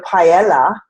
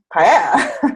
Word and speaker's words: paella: It's never paella. It's it's paella. That's right. It's having the Y.